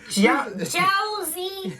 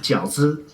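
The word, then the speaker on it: 饺子: Josie. What is this white people pronunciation? Right, Uncle Roger. It should be pronounced 饺子.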